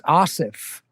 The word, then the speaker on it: Aasif: look how it's spelled tell me how to pronounce your name it's asif asif yeah asif so it is the softer like anna yeah that's right and people always go asif i've heard asaph we